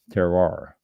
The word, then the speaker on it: goût de terroir: This is, and let me go back to this, Gout de Terroir, Terroir, Goutdeterroir, Gout de Terroir.